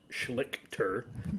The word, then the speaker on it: Schlichter: Everybody remembers our episode with Kurt Schlichter. I pronounced it right this time.